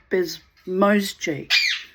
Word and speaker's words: Bezmozgis: That's why I made the effort to find out how to pronounce Bezmozgis. Bezmozgis.